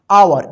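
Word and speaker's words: hour: इसको हावर मत पढ़िए हावर गलत हो जाएगा आवर एच ओओ यू आर आवर मतलब घंटा ओ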